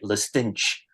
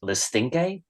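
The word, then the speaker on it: Le Stinche: a prison ever but apparently that's how it's pronounced because I thought I've been calling it The stinch for years and then I hear the audiobook no it's the stinky really okay uh so yeah no that's uh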